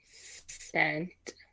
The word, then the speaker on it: scent: Because it sounds like an S, like cent.